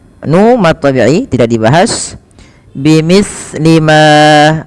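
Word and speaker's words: بمثل: Bimithli ma, hati-hati di dalam melafalkan huruf sa, jangan sampai sa ini memantul ya teman-teman, atau dia membacanya dengan huruf sin. Contoh memantul bimislima, bimislima itu memantul, atau dia membaca dengan sin bimislima.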